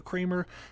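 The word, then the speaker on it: Kraemer: written by Harry Kramer the last name is spelled k-a-r-a-e-m-e-r so Kramer k-r-a-e-m-e-r I'm listening to this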